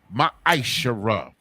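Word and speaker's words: מעשר: You can find this in Numbers 18 and 21, in Malachi chapter 3, verses 8 through 10, which means 10th in the Hebrew, and is pronounced ma'ashara.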